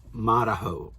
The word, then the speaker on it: Marahau: We are in Marahau, which Ann says is pronounced Marahau.